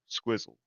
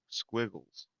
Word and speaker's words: Squiggles: I always say his name wrong. Squizzle. Squiggles.